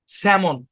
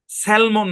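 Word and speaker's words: salmon: এই শব্দের উচ্চারণ কি এখানে এলটা সাইলেন্ট আর কি স্যামন স্যালমন না স্যামন স্যামন একটা মাছের নাম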